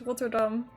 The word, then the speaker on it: Rotterdam: How is Rotterdam pronounced in Dutch? Rotterdam. Yeah. Like that. Okay, wait. I like that layout of things more. What if it's just not even, but whatever. Roll the R.